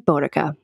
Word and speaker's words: Boudica: to a conclusion and I pronounce it like Boudica.